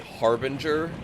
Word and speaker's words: Harbinger: By the way, folks, it's pronounced a Harbinger SMG.